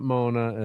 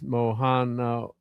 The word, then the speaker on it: Moana: It's not Mona. It's Moana. That's closer to it than what you were saying.